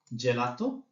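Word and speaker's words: gelato: যখন এ অথবা ই থাকবে তখন হবে জমন জেলাত জর্ণ বাকি ক্ষেত্রগুলোতে হবে গ যেমন গাত গম্মা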